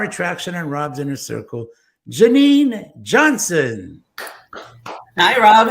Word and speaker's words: Jennen: So even though your name is spelled as Jennen, it is pronounced Jennen.